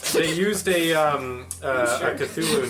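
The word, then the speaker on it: Cthulhu: out loud Drew they used a um a cthulu name and I'm trying to uh it's pronounced thulu what it's what's the question read it as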